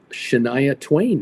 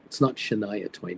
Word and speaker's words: Shania Twain: It's a good time, and I think this year Shania Twain is the parade marshal this year. Actually, I mispronounced it. It's not Shania Twain. It's Shania Twain is going to be proud Canadian girl.